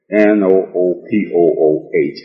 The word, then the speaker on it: Noopooh: For the benefit of listeners and readers again, Noopooh is spelled N-O-O-P-O-O-H and pronounced Noopooh. The H is silent and capitalized.